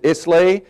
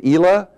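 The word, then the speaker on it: Islay: say to me simon is it isla is it ela just remember isla means island and you've got the pronunciation of the region or i'll have another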